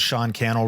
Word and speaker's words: Sean Cannell: connect my name is Sean Cannell rhymes with YouTube channel on all the social